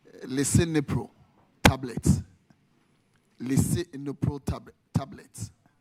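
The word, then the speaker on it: Lisinopril: Beg my pronunciation. Leipro tablets.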